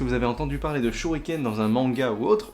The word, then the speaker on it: 手裏剣: de la vidéo, mais le RI se prononce bien li, comme un LI, comme un lit, en fait.